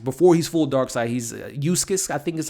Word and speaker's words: Uxas: And he's Uxas, I believe is how you pronounce it. He's the young Darkseid. Before he's full Darkseid, he's Uxas, I think is how you pronounce the name, if I'm not mistaken.